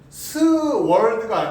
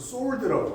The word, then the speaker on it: sword: 그리고 또 있었는데, 이게 발음이 스월드가 아니라 W가 묵음이에요. 그래서 sword라고 하는 거예요.